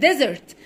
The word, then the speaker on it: desert: يعني across the desert. خلي بالك ان الاس هنا بننطقها زد علشان بين حرفين متحركين.